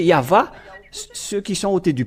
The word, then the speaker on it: Yahvah: la question se pose c'est W ou V c'est à suite à la transitération des chercheurs et des savants bon donc ils ont utilisé le W mais si on regarde depuis l'original hébreu donc c'est V le vrapellation et ceux qui ont prononcer yava ceux qui sont aôés